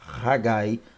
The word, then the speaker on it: Haggai: da língua hebraica lembrando mais uma vez a pronúncia haggai tá festivo tem esse significado aí e esse